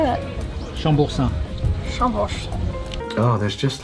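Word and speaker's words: Chambourcin: So we have a sparkling, a white blend, a Riesling, and a Chamboursin? How do you say that? Come on, French boy, how do you say that? Chamboursin.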